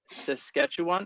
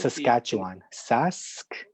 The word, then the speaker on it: Saskatchewan: So how do you Saskatchewan? How do you pronounce it? Saskatchewan.